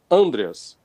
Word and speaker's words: Andreas: acerar esse nome viu Então é só você botar o assento na primeira sílaba Andreas Andreas pronto o negócio S lembrar